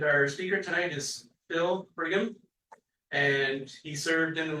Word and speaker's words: Frigm: Greg pronounced it that way, but it's Phil Frigm. Those of you who know me, solid G.